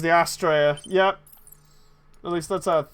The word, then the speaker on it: Astraea: fine bottom of the leg John says the Australia yep at least lets out think you pronounce it you got it right John well